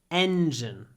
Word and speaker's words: engine: think engine engine ah what's interesting about engine is that the N is stretched engine engine the first n so we say engine